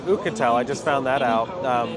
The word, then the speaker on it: Oukitel: So it's actually pronounced Oukitel, I just found that out.